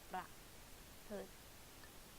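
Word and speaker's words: ประพฤติ: พ ฤ ต ิ like L sound within the word, so it's like ป ร ะ พ ฤ ต ิ ร ุ น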